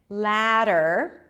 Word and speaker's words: ladder: Ladder can be L-A-T-T-E-R, the ladder of the what I've mentioned, the last thing I've mentioned, the ladder, or a ladder that you climb up, okay, with a D sound, ladder. It's pronounced the same.